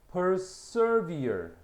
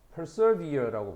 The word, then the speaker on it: persevere: persevere. 자, 여기서는 이 SE의 발음이 s라고 발음해야 돼.